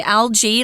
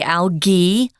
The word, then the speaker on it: algae: are studying British English, they don't say algae like we do. They say alge with a hard g sound.